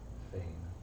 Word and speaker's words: Fane: Fane. There's a character in Divinity Original Sin 2 named Fane, Well, but it's spelled differently. F-A-Y-N... F-A-N-E. F-A-N-E. Okay, so... okay. Like Bane, but F.